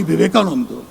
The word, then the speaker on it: Vivekananda: It is pronounced Swami Vivekananda.